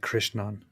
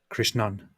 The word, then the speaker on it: Krishnan: did it very perfect I would say Krishnan is that correct it it is more like Krishnan yeah Krishna okay Krishnan like the the a is